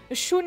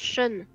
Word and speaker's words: Shun: Ça se prononce Sean.